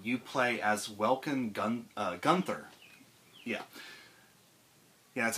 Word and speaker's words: Gunther: War II um you play as welen gun Gunther yeah yeah that's how you say his name